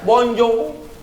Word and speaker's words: Bonjour: Hai tulisannya Wongso Ir tulisannya Bonjour bacanya bonjong tulisannya bonsoir bacanya bonus